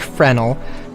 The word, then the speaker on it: Fresnel: I think this is an interesting thing, actually, because apparently it's pronounced Fresnel, which I'm fine with pronouncing it that way.